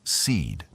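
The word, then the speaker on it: SEAD: and that's C A suppression of enemy air defenses pronounced seed also known as wild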